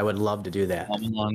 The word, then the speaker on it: Shyamalan: love to do that shamalan not shoman shoman is not right shamalan shamalan shamalan shamalan